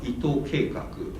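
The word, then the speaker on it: 伊藤計劃: story and project ito whose japanese name is pronounced like ito keikaku is a really post-cyber punk-ish writer and his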